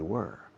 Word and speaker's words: were: Were they, si sabéis el verbo quemar, burn, se pronuncia igual, burn.